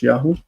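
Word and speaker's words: יָהוּ: So what happens is that this V would change to U, and the syllable would like this. This syllable is now in an open. It's open, so it becomes long, and it's Yahoo.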